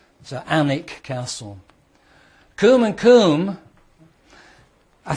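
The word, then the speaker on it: Alnwick: but it's not pronounced Alwick, it's pronounced Anik. So, not only is the W silent, the L is also silent. So, Anic Castle.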